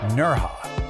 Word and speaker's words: Nerja: Today we're taking a trip to the gorgeous town of Nura. And just so you know, it's pronounced Nurha, right on Spain's beautiful Costa dels.